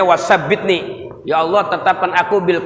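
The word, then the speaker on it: wa thabbitni: Wasabbitni, ya bacanya wasabbitni.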